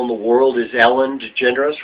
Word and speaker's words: DeGeneres: you pronounce her name that was a generous DeGeneres not degenerates no no that's you